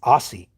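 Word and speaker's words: Aase: I mean, he may now, but when I used to watch him a lot, which is very sparingly now, um, it's Aussie.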